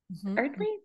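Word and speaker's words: Eardley: Erdley, that's how you say her name.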